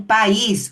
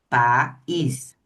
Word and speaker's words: país: Agora em país, ó. Paí. País. Eu não mexi a boca duas vezes de forma diferente. Pais.